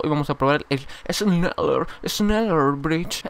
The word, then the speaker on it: Schneller: Hoy vamos a probar el Schneller Bridge. Es como la cerveza Schneider. O sea, se pronuncia la SH Schneider.